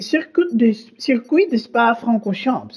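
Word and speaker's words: Circuit de Spa-Francorchamps: We are out here in Belgium, and, well, as the locals call it, it is the Circuit de Spa Francorchamps. I think I'm pronouncing that reasonably carefully as I can, but it should be an absolutely fantastic race.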